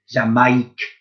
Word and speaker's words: Jamaïque: Jamaique. Now, let's spell it now with the phonics.